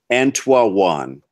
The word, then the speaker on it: Antwaune: So essentially, his name should be pronounced Antoine.